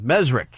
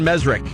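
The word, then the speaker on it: Mezrich: We got Ben on the phone, Ben Mesrick, or Ben Mesrich. Always pronounce his name wrong. Mesrick, you think?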